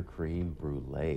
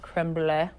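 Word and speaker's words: crème brûlée: Also, we're getting our aprons and making some bananas Foster cream brulee. Did you know that? I'm super excited for this. I believe it's pronounced creme brulee. Creme brulee.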